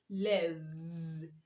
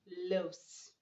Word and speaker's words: loaves: Loaf, loaves, loaves, not loaves.